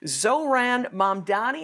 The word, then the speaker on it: Mamdani: We've got a guy who's likely to be the next mayor of New York, Zohran Mamdani, I think is how you say it.